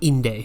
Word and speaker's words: Inde: Okay, it's pronounced Inde, so we're gonna go with that.